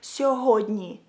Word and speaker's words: сьогодні: So if you want to say today in Ukrainian, you would say it like сьогодні.